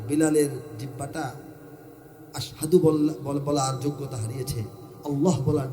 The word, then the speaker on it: আশহাদু: তিনি তো আশহাদু বলতে পারেন না, উনি বলেন আসহাদু।